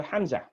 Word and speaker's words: Hamza: beginning of this paragraph that Hamza indicates a glottal stop what does it mean it means uh-oh you have to stop the other as if you're choking in a throat you cannot pronounce and